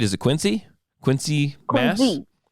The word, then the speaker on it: Quincy: Quincy, Mass. Quincy, pronounced with a Z, because that's how the family pronounced it.